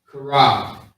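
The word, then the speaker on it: חרב: So we got the C-H-A-A-R-A-B. Okay? Karab. Is how you say it quickly.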